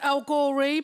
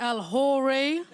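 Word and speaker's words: El-Ghorri: grove you've also been morocco my surname is al gorey but a lot of people pronounce it el hory i've got a massive family guys i've got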